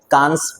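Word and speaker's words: Cannes: उसके प्रोनाउंसिएशन के हजारों तरीके हो सकते हैं। पर हम हिंदी भाषी लोग कांस फिल्म फेस्टिवल ही कहते हैं।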